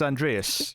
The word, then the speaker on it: Andreas: Isn't it Alexander? It's Andreas. You're completely wrong.